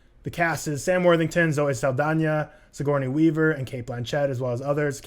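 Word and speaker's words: Zoe Saldaña: cast is Sam Worthington Zoe Saldana Sigourney Weaver and Cate Blanchett as well as others cam it is Zoe Saldana it's not Zoe Saldana yeah it has an end yeah that's as pronounced and I also watched a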